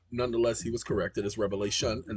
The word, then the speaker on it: Revelation: the way down to Revelation I used to pronounce it with an S Revelations with an S and an older gentleman corrected me said it's not Revelations is revelation and I was like